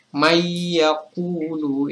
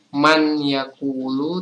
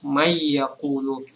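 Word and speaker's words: مَن يَقُولُ: Kemudian mayakulu, ini sakna idogam. Jadi ini cara membacanya itu kita melebur kata nun atau huruf nun ini dengan huruf ya setelahnya. Jadi bacanya bukan man yakulu tapi mayakulu.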